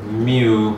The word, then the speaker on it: mu: Remember mu, I told you in class, this is, you pronounce that mu, and that's the population mean.